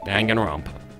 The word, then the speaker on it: Danganronpa: of the voiceover clear the canonical pronunciation is Danganronpa dang it wrong that